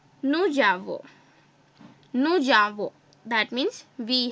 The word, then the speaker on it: nous avons: French we have a rule that when we pronounce, so we don't have to break them, we have to say them together, right? Like this. There will be no break. So how will I pronounce it? I will pronounce it as nous avons.